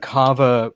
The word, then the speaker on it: kava: Kava. It's like Java but with a K.